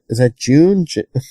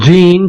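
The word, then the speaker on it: Jene: Is that June? I think it's Gene, just spelled with a J.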